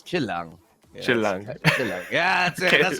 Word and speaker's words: Chill Lang: And by the way, it's how you pronounce it is Chillang.